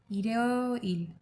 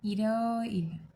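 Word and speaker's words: 일요일: Okay, इरियो नहीं, इरियो नहीं, इरियो इल, इरियो इल।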